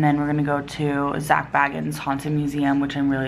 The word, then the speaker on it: Zak Bagans: bit about zak bagans Biggins I'm sorry I keep saying wrong zak bagans I think is how you say I wanted to talk